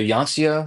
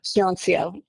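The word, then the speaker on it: Hyeonseo: yeah, Can we let them know, let people know, like, so Yancio, is that the correct way to say it? Hyuncio.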